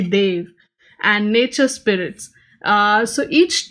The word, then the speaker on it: deva: also talks about the Devas I know this is a very English pronunciation of the word it's actually they've and nature spirits so